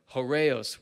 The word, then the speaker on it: Kairos: other one you said cureo is how you pronounce it and it's it's the